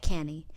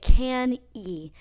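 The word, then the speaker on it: Cannae: greatest masterpiece was at canny I'd like to note here that you pronounce it can ye despite its spelling see a and nae Hannibal met the Romans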